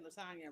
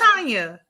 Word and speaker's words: Latanya: I think I pronounced your name wrong because I said Lasagna, but hey, It is okay. Latanya. What were you? It's Latanya. Latanya.